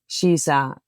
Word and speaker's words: Shisa: And the way you pronounce it, it is like Shisa, as in English, you would say she is a.